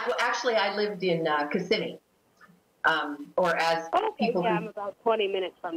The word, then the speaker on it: Kissimmee: Yeah, well, actually, I lived in Kissimmee.